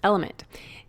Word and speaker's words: LMNT: our sponsors lmnt element it's spelled l MNT but pronounced element if you haven't heard about this element is a tasty electrolyte